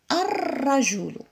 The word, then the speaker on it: الرجل: غادي نشوفوا كلمه اخرى عندنا الرجل ا، ولكن ما نطقناش اللام. علاش؟ لانها شمسيه غادي ندير لها النظارات هنا وهي الشده. الرجل ما يمكنش نقولوا الرجل الرجل، لا ما جاتناش في لساننا. الرجل ها هما النظارات وهي الشده، اذا هذه شمسيه غادي نديروها شمسيه.